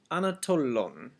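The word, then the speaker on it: ἀνατολῶν: The next word is anatolon.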